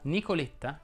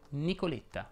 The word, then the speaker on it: Nicoletta: è aperta alla media nicoletta che è un diminutivo si pronuncia con la è chiusa nicoletta elettra invece vuole la